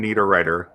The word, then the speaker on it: Niederriter: That's Tim, Tim, Need, Writer. So Tim Niederriter.